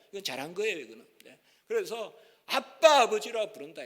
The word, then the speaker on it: 아빠: 이게 옛날에는 아바 이렇게 불렀는데 미국 사람들은 아빠라고 발음을 못합니다. 미국 사람들은요 아빠라는 거 발음을 못해요. 그러나 저 이스라엘 사람들은 발음을 하죠. 우리나라도 발음을 하고. 그래서 미국 사람들은 아바 이렇게 바뀌어요. 미국 사람들은 안나 이렇게 발음을 못해요. 아나 그러죠. 아나. A-N-N-A 이러면 아나 이렇게 해요. 그러나 우리는 안나 이렇게 부르잖아요. 미국 사람들은 자음이 두 개 있어 발음을 못해요. 그러니까 아바라고 부른 거예요. 지금은 뭐예요? 이스라엘 소리 나는 대로 읽으면 아빠예요.